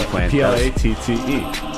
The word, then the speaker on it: Platte: Platte. Like plate with an extra T and an E.